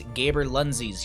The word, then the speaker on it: Gaberlunzies: On the left-hand side, we have the Garrulous Gaberlunzies.